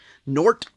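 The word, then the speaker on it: G'nort: skier teaming up with nort or some people call him Gort like my brother but I think it's nort the g is silent and it's It's the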